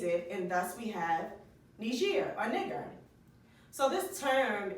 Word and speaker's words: Niger: So they called it nigger, but it's actually pronounced Niger.